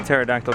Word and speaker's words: pterodactyl: What does it sound like when a pterodactyl goes to the bathroom? I don't know what that is. It doesn't, because the P is silent.